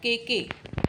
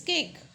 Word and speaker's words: cake: It's not kk. It's cake. E is silent in this case, right?